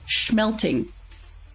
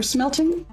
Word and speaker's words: smelting: with our family who loves to say schmelting, as though it's SCHM for schmelting instead of the proper spelling SM for smelting.